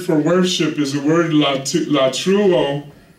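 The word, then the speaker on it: latreuo: The Greek word for worship is the word latruo. It's a Greek word. It's spelled L-A-T-R-E-U-O, latruo.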